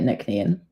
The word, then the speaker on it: Nc'nean: how to say it so we say it Nan and it comes from